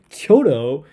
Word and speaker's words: Kyoto: If I were speaking Japanese, I would pronounce Kyoto in Japanese. But when I'm speaking in English, I will pronounce things in English regardless of what I'm talking about.